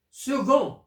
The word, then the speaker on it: second: prononce avec a femme second ça s'écrit avec C mais se prononce gu 6 x se prononce